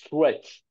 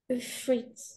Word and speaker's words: threat: Euh threat fret par tu vois à chaque fois que tu prononces un th en anglais ta prof elle t'a pas dit ou ton prof il t'a pas dit de mettre le de mettre la langue entre les dents.